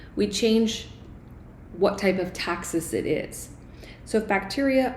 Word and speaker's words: taxis: I know it looks like it's spelled taxis, but it's actually taxis.